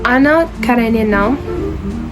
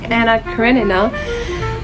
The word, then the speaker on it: Anna Karenina: Anna Karen. God, that's such horrible pronunciation, but Anna Karenina.